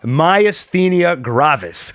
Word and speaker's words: myasthenia gravis: okay he's off to the side here it's pronounced Mia's but myasthenia gravis an elderly woman with myasthenia gravis and thus